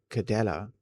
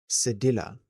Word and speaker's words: cedilla: In French, that little hook under the C called cadella, no, cedilla. I'm probably butchering that word as well. Tells you to pronounce it as a soft s rather than a hard K.